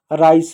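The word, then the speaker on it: rice: यहाँ पर सी का उच्चारण क्या होगा बताओ, यहाँ पर सी का उच्चारण स होगा कि ज होगा, यहाँ पर क्या होगा, राइस होगा। सी का उच्चारण क्या होगा, सी का उच्चारण जो होगा स होगा। क्यों, क्योंकि सी के बाद ई है, तो सी का उच्चारण क्या होगा, स होगा, क नहीं होगा।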